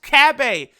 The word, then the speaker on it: Cabba: yes it is pronounced kab a that's what the they say in the show that drives me crazy